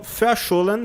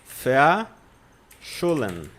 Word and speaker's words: verschollen: Verschollen. Verschollen, tá? Verschollen. Porque a letra V no alemão tem som de F.